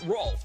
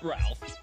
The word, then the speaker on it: Rolf: My name is pronounced Rolf the Wolf, not Ralph.